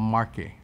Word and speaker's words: Marche: the adriatic sea in an area called marque it's spelled like marches okay it's facing the adriatic